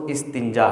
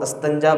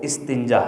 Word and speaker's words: استنجا: استنجا کہا جاتا ہے۔ اس لفظ کو کچھ لوگ غلط پڑھتے ہیں۔ اس کا جو صحیح تلفظ استنجا ہے، لیکن عام محاورتاً یا عام ہم جو اس کو استنجا بولتے ہیں، حالانکہ اس کا درست تلفظ جو ہے وہ استنجا ہے، الف کے نیچے زیر ہے۔ تو اس کے بارے